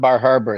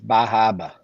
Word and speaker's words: Bar Harbor: And it's not Bar Harbor, it's Bahaba. Bahaba. Yeah, I'm a Southerner. I don't say it right.